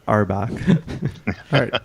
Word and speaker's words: Auerbach: I know this area or bum because it's pronounced uh Auerbach I'm firing famous Broadway star as well look